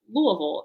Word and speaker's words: Louisville: So now if you ever have to say something about Louisville, you'll sound like a local if you say it like you're throwing up.